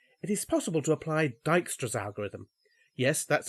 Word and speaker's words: Dijkstra: or via D it is possible to apply Dijkstra's algorithm yes that's how you pronounce that name which evaluates the shortest distance